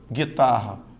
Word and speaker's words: guitarra: tenho dinheiro vocálico certo na palavra guitarra veja que a letra U não é pronunciado você não fala guitarra Então eu tenho dígrafo